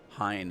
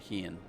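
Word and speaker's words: Hien: I'll call him Hine instead of Heian.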